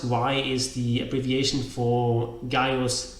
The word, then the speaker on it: Gaius: beginning so of course the name Gaius was written with the C because that's the owner that they had that's a letter that represented both this curse sound and the good sound and when they introduced